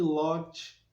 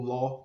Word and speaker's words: Ló: Um exemplo típico é a esposa de Lot, ou Ló, como a gente possa utilizar a pronúncia, né?